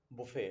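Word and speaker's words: buffet: That's वो call it बुफे होता है. ओके, टी इसमें भी साइलेंट रहता है.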